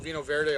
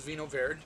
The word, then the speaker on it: Vinho Verde: I used to call it Vinho Verde all the time, and, you know, it doesn't matter that much, but it is Vinho Verde if you're interested in the pronunciation of it.